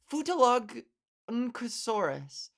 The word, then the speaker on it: Futalognkosaurus: Futalognkosaurus. Futalognkosaurus. GNK together. Come on. Why would you do that to us? Futalognkosaurus. Futalognkosaurus. Futalognkosaurus. Futalognosaurus.